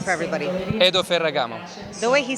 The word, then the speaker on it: Edo Ferragamo: how do you say your name for everybody Hado Ferragamo the way he says it it makes me like it just puts me to shame Hado Ferragamo Paragon you might be from Italy yes I